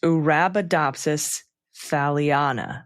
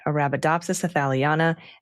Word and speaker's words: Arabidopsis thaliana: And the Arabidopsis thaliana is pronounced Arabidopsis thaliana. Okay, I got it. Arabidopsis thaliana and Saccharomyces cerevisiae.